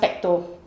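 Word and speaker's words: PPTO: feing feed the baby yeah correct so it's pronounced petto PTO petto press to close twist to open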